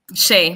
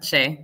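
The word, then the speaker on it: Shea: Is it pronounced Shay? Shay, like the butter, Shay.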